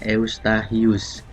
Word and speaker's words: Eustachius: Tulisannya Eustachius ya, tapi bacanya Eustachius.